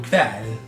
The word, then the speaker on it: kväll: Un'altra nota riguarda la pronuncia della parola kväll, la E, mi raccomando, bella aperta, good kväll.